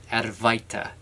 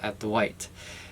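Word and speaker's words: Advaita: this is called add to add white or add a vitae as like Westerners would call it advice of an incense could it's pronounced at the white and at Dwight's means not to or non-dual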